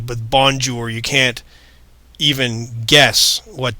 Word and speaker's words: bonjour: But here, using the phonetic alphabet, you can see how this is pronounced bonjour. You can get much closer to the target pronunciation if you understand these pieces. B, on, j, ou, r.